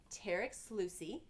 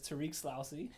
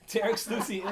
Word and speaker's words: Tarik Sloussi: So this is Tarek Sluicy. Am I You pronouncing pronounced this? it right. Thank you. More commonly known by all my clients as Tariq Slousy, but Tarek Sluicy is my name.